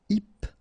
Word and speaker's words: hypnotique: Remember, at the end, Q-E, K, tic. So, H is not pronounced. Hypnotique.